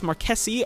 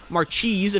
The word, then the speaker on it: Marchese: So let's go ahead and use Marquesi, or Marchese if you want to say it that way, but that's obviously not the correct pronunciation.